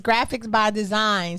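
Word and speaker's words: Graphix by Dzine: Yes, and his company is Graphics by Design. So definitely follow him. Graphics by Design. It's spelled differently. GRAPHIX like X-ray by Design by BYDZINE.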